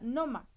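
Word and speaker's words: νόημα: Quiero que entienda que aquí la palabra sentido es la palabra 3540 que se pronuncia noma.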